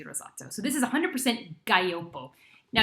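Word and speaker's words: Gaglioppo: so this is 100 gallopo now if you see it spelled it looks like gagliopo and you think gosh how do i pronounce this it's a gaiopo so it's kind of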